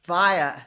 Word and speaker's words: Via: pronounce your last name it's via like via a meaning for Life via I'm glad I didn't